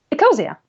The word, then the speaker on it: Ecosia: Ecosia? Ecosia.